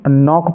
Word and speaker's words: knock: KNOCK इसको हम नॉक पढ़ेंगे। चलिए लास्ट में हमने नीचे एक पंक्ति ली है जिसमें एल साइलेंट है, तो देखिए TALK इसको हम टॉक